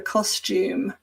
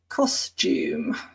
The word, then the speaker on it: costume: And to dress up, as you can see, is to wear a costume. And this is a word that people often mispronounce. So not to be confused with custom, but costume. Costume.